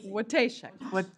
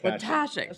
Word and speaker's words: Watashek: Watashek. Watashek. Watashek, so like you're sneezing. Okay, Watashek. Watashek. It's like schmeezing.